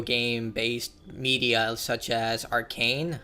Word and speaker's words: Arcane: But we did have a lot of really good video game based media such as Arcane. I always pronounce it Arcana.